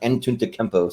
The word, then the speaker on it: Antetokounmpo: I know he has a really hard to pronounce last name, but it's pronounced Antetokounmpo.